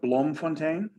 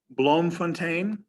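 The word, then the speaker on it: Bloemfontein: to kimberly we have blom fontaine blom fontaine i'll spell this for you for those of you who don't speak dutch b l o e m f o n t e i n it's dutch for um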